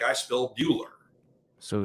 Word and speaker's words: Buehler: like that and then bueller i mean yeah it's not built like ferris bueller but it's pronounced the same way but the funny thing